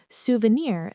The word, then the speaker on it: souvenir: Souvenir. This word comes from French. And we stress the final syllable, souvenir.